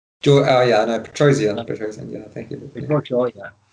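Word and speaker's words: Petrosyan: And George Pedoshaw. Oh yeah, no, Petrosian, yeah, thank you.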